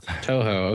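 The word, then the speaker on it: Touhou: How do you pronounce that? Toho.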